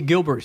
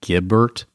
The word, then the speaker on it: Gibbert: Hey, Gilbert. You know, that's part of the Gibson clan. Is it? Yeah, it's actually Gibbert. Oh, okay. You said it wrong, but I didn't want to correct you, but I got you.